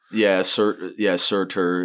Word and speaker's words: Surtr: There's 3 Blade of Surtrs and there's 2 Achilles. Okay, and I'm sorry, I know I butcher Surtr. I always say Sir, but Surtr.